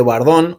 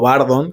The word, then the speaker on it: Bardon: También los de Bardón o Bardon, como le quieran pronunciar.